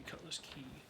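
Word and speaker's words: Cutlass Cay: for being accurate and should be pronounced key should be Cutlass key so apparently a hundred-year-old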